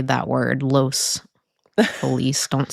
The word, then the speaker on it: Los Feliz: to say that word, Los Feliz. Don't say it the other Los way. Feliz. Don't say it. Ew. Los Feliz. No, stop. That's not how you say it.